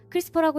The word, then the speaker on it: CRISPR: 크리스퍼라고 읽는데 요즘 생명과학에서 가장 뜨거운 기술 중 하나입니다.